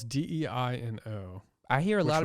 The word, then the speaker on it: Deino: Well, it's Deino. I hear a Which lot of would be people pronounce it Dino.